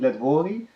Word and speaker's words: Letwory: almost had it right my name it's shocking let Wally and I think I heard something like that